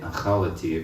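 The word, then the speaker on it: אכלתי: Which you could say achalati if you want to.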